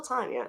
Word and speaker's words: Tania: I spelled it Tania, and everybody calls her Tanya. And I'm like, no, it's still Tanya, right?